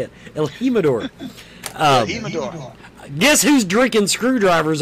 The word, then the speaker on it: El Jimador: El Jimador.